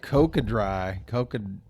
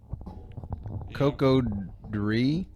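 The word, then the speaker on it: Cocodrie: See, it looks like Coca-Dry. Coco-Dree. Yeah, man. You're I would have definitely mispronounced it.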